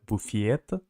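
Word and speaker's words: буфет: Buffet ah Buffet but in Russian it's pronounced like buffiet yeah but in Ukrainian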